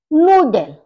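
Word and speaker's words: Nudel: नूडल, नूडल, noodles. यहाँ पर double O आ गया, यहाँ पर ऊ, इसको यू को ऊ बोला जाता है, तो नूडल और नूडल्स।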